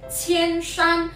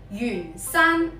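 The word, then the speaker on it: 铅山: 普通话有人读成千山，有人读成远山。其实正确嘅发音系远山。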